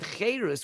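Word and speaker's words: חרות: but our sages say the same word charos can also be read kherus and it means don't we they say don't read it haris which means carved but pronounce it heirus which means free because freedom is when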